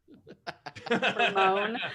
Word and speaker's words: Hermione: How do you pronounce the name that starts with H-E-R? Her. Hermione.